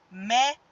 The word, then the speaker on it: médico: Olha só, médico. A sílaba mais forte é o mé.